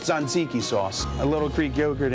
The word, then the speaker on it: tzatziki: It's pronounced tzatziki sauce.